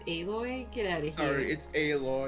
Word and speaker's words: Aloy: Horizon forgotten world it's alloy how did I never see this little hole in the wall before uh it's pronounced aloy get out of here